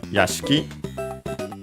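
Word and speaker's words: 屋敷: grounds, premises, mansion is accented on the last syllable on its own. Yashki, by the way, uh, of course, the E between in being between unvoiced consonants is very barely heard, if at all.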